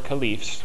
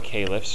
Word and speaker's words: caliph: period of the first four khalif's or caliphs depending on how you want to pronounce it and what this quickly